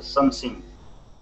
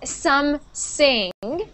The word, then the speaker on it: something: you said there uh something see how that th is it is not an S so you're gonna have to stick your tongue out of your mouth it's not some sing it's some thing something some something something